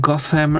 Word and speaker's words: Gotham: The original pronunciation had TH, as in had Gotham, but lost the H. The pronunciation with the th sound, as in Gotham, is a spelling pronunciation that arose from a misreading of TH as a digraph, because it is GOT as one word, HAM as a second word. There is no TH in the name.